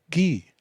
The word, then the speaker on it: Guy: 10 times better so guy pronounced in french is ghee you see right away